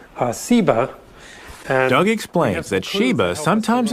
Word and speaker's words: Seba: think is related that has just a different S sound Seba dog explains that Sheba